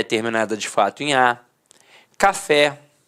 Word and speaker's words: café: de fato em a café repare que a sílaba tônica é a última e é terminada em é Cipó repare que a